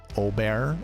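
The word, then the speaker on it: Åberg: want to pronounce it I know it starts with an A but he's from Sweden he's got the a with the two dots above um you make the O noise so Oar oberg I'm not a huge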